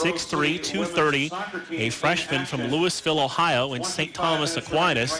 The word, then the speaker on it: Louisville: Most people who are not from Ohio pronounce it Louisville, like the big city in Kentucky, but yeah, it's Louisville out there in Akron, right?